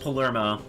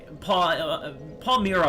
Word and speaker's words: Palermo: It's pronounced how it's spelled, just Palermo.